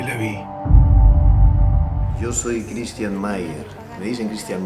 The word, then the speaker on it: Meier: Yo soy Christian Mayer. Me dicen Christian Meyer porque se escribe Meyer, pero en realidad soy Christian Mayer, pero si me dicen Christian Mayer no me molesto tampoco.